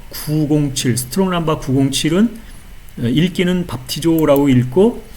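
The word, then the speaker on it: βαπτίζω: 스트롱 남바는 907번이고 그다음에 발음은 밥티조 이렇게 읽는다 밥티조 이렇게 되어 있습니다이 밥티조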